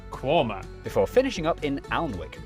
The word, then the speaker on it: Quernmore: Mousehole, Next, travel north up to Towcester, Toaster, then a quick jaunt to Gotham, Gotham, followed by a stop in Quernmore, Quormer, before finishing up in Alnwick.